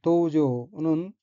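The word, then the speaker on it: 道場: 첫째 줄의 어휘는 한자가 한국어로 도장이고 각기 길도자와 마당장자이고 일본어로는 도우조라고 읽으며 도우조는 도량, 도장, 수련장을 뜻합니다.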